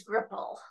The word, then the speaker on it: GRPL: you pronounce it yeah we we pronounce it as gripple okay yes it's it's